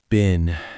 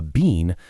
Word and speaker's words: been: Oh, been. This one is hard because of the pronunciation, too. In American English, it sounds like the vegetable, a bean, but sometimes it sounds like the name, Ben.